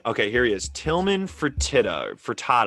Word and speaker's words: Fertitta: here he is tillman fertitta frittata i think it's pronounced for tata so what i've heard